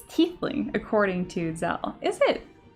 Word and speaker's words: Tiefling: It's Tiefling, according to Zell. Is it? Oh, Lazel. Yeah. Tiefling. That's right, that's right. Because Tief is German for deep, low, rhymes with leaf.